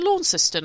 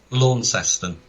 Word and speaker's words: Launceston: in 1750 on the Is it Launceston or Launceston? I can never know how to pronounce that. Launceston. I call it Launceston. A lot of people call it different.